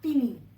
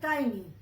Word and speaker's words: tiny: इसका E है, but we pronounce it as I.